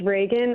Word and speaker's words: Reagan: or rean is that the proper way to pronounce what's your name it's it's Reagan uh like the president got it well you